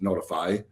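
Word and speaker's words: Notefy: gentleman named Jake Gordon with a company called notify spelled n-o-t-e-f-y but spelled but pronounced notify and we're going to talk a little bit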